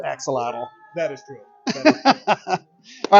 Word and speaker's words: axolotl: Am I pronouncing that right? Axolotl?